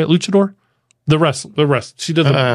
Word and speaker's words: luchador: Luchador?